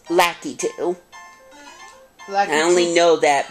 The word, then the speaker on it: Lakitu: I think it's pronounced... Lakitu? Yeah, it's Lakitu.